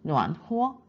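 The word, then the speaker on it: 暖和: 하지만 따뜻하다라는 표현을 할 때는 노안 호어 후어로 발음이 된다는 점 살펴보시고요.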